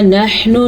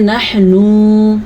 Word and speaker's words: نحن: نحن ہا کے تلفظ پہ خصوصی دھیان دینا ہے اور نون کو لمبا نہیں کرنا. بعض لوگ اس کو پڑھتے ہیں نحنو، یہ غلط ہے.